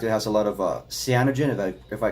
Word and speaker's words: cyanogen: the comet has inside of it, the comet in particular, the Christmas comet, has something called cyanogen.